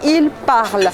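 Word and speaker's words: parlent: parle on vous parlait il parle la terminaison qui correspond à la troisième personne du pluriel la terminaison ent est muette on ne l'a prononcent pas je répète la conjugaison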